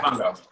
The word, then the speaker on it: Mofongo: Mofongo? Am I saying it right? Okay. Mofongo.